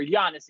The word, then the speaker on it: Giannis: to come back or giannis excuse me i've been pronouncing his name wrong for a very long time i finally figured out you just pronounce it with a y it's super easy um but giannis comes